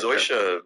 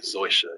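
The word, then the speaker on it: Zosia: Zoysia Mamet and Emma Roberts were two actresses you've seen in a lot of stuff who don't barely in this movie.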